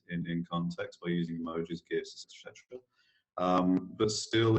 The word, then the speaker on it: GIF: And yeah, I said GIF. I will never use the J word. There is no way that the CompuLink graphical information format can ever be pronounced with a J, because it's not graphical, it's graphical.